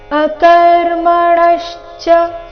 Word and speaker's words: ಅಕರ್ಮಣಶ್ಚ: ಅನುನಾಸಿಕದ ರೀತಿ ಬೋಧವ್ಯಂಚ ವಿಕರ್ಮಣಹ ಅಕರ್ಮಣಶ್ಚ ಣ ಮೇಲೆ ಆಘಾತ ಗಮನಿಸಿ ಕರ್ಮಣಶ್ಚ ಬೋಧವ್ಯಂ ಅನುಸ್ವಾರದ ಉಚ್ಚಾರಣೆ ಇಲ್ಲಿ